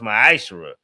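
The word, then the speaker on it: מעשר: Means 10th in the Hebrew is pronounced ma'ashera.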